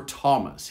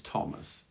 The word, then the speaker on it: Thomas: at that and then rarely th sounds like a t thames or thomas here this is thomas and then finally sometimes